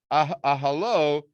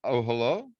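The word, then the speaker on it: אהלה: It's pronounced ahalo, his tent, which is interesting.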